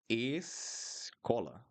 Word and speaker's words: escola: Escola. E. Escola. Escola. Escola. So don't open a lot your mouth.